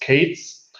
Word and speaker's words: k3s: think that then there is k3s pronounced Kates um uh and um